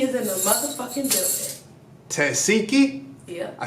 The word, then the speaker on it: Tesehki: Tesehki?